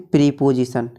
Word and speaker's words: प्रीपोजिशन: Number 6 पे आता है हमारा प्रीपोजिशन, जिसे बहुत से लोग पढ़ते हैं प्रीपोजिशन। तो दोस्तों इसकी सही प्रोनाउंसिएशन होती है प्रीपोजिशन।